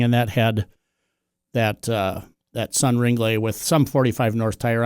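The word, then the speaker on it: Ringlé: I call them Sun Ringles, but apparently they're Sun Ringley. Ringley.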